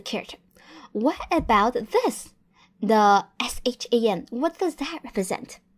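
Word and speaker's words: 山: What is the pronunciation of this character? Yep, that is shan, shan.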